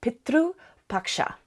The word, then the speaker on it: Pitru Paksha: Tomorrow also is the first day of a celebration throughout India called Pitru Paksha. So Pitru, so P-I-T-R, sometimes there's a U, because that's how we pronounce it.